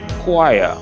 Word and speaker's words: choir: So it's tempting to pronounce the CH, inquire with the CH sound, but that will be incorrect. The word is actually choir.